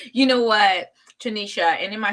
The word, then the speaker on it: Trinisha: You know what, Tanisha? And am I saying your name right, Tanisha?